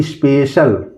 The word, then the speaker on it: special: इसकी खासियत ये है कि अगर सी के बाद दो वावेल्स आते हैं, अगर सी के बाद दो वावेल्स आते हैं तो उसको हम बड़ा स से प्रोनाउंस करते हैं।